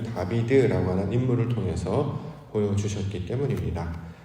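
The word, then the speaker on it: דָּוִד: 발음은 다비드라고 하는 것이 이해하는 데 더 도움이 됩니다. 무슨 뜻이냐면, 하나님께서는 하나님의 합한 모양을 이 다비드라고 하는 인물을 통해서 보여주셨기 때문입니다.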